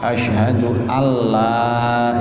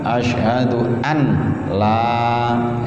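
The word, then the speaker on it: أشهد أن لا: nyawa ngiler ibadillahi Shalihin Ashhadu alla ilaha illallah hati-hati Bacanya jangan Asyhadu an-laa jangan deh tapi di itu Gom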